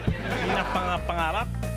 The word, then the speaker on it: pinapangarap: Can you pronounce the word pinaganapanakanagarap? Pinapangarap?